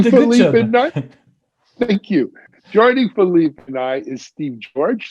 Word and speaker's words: Philippe: least hears it one time my name is philippe i think i did a good job then man i'm proud of myself joining philly midnight thank you joining philippe and i is steve george steve is the